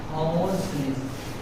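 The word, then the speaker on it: hoarseness: ए bitterness, ए सोरनेस, सार, सार बोलते हैं, सारनेस, स्पेलिंग लिखो SOUR, सारनेस। बी है हॉर्सनेस, HOARSE, हॉर्सनेस।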